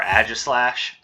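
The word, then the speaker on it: Aegislash: What do you think you are, Agislash? Actually, there's probably multiple ways to pronounce that. I always pronounce the A-E like aw as an author, but a lot of people pronounce it A, so...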